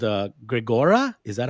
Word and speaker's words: Grigora: course you're you have a tool called uh gregora is that how you pronounce it okay gregora and uh where first of all where you